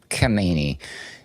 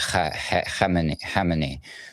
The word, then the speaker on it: Khamenei: It's by the way, Khamenei. The way everybody says it is like the other guy, the one before him was Khomeini. So it's a little slightly different pronunciation.